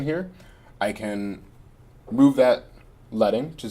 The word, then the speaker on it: leading: It's pronounced leading. Leading, thank you.